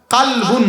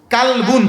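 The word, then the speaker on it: قلب: কারীমের মধ্যে আল্লাহ বলছেন কালবুন বড় কাফুন অর্থ হলো অন্তর এখন আপনি আপনি বাংলা পড়লেন এটা কালবুন ক দিয়া পড়লেন অর্থ হইলো কুত্তা অর্থ হইলো কি বলেন কুকুর কালবুন ছোট কাফ আপনার ক উচ্চারণ করলে হলো এটা কুকুর অথচ শব্দটা হইলো অন্তর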